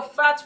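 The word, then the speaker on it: phat: No, you're fat with a P.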